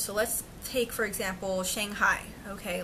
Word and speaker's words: Shanghai: So you want to learn from the locals that it's pronounced as Shanghai instead of Shanghai, right?